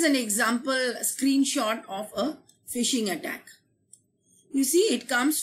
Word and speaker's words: phishing: Malware types including phishing, adware, spam, and ransomware would be discussed here. Stay tuned. This term, phishing, is pronounced like the word F-I-S-H-I-N-G.